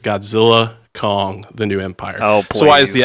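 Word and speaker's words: Godzilla x Kong: The New Empire: out and said that the x is silent so it's just Godzilla Kong the new Empire so why is the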